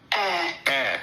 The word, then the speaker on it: heir: H E I R I'm saying didd here because it's H E I R but the H is silent. Air.